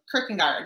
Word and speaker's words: Kierkegaard: But Soren Kierkegaard, is that right? Kierkegaard, yeah.